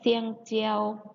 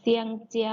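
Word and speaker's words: 香蕉: คือ กล้วย นั่น เอง กล้วย ใน ภาษา จีน เรา จะ ออก เสียง ว่า เสียง เจียว ๆ เซียงเจียว ๆ เซียงเจียว กล้วย เด็ก ๆ ลอง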